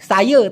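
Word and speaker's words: saya: তো ওরা সাধারণত ল্যাটিনটা বলে সাইয়ে তা তাউ, সাইয়ে তা তাউ। এখন দেখেন সায়া ওইটাকে বলতেছে সাইয়ে, সাইয়ে, এস এ সা ওয়াই ই ইয়ে, সাইয়ে, ওরা উচ্চারণ করতে সাইয়ে।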